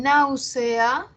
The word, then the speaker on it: náusea: En náusea también es una palabra esdrújula, ¿no? Primera sílaba, nau. Segunda, C. Tercera, A. Ya, ahora, ¿cómo las cuento desde el final? Última, penúltima, antepenúltima. Nau es la sílaba que tiene la mayor fuerza de voz, es la que tiene el acento, la tónica.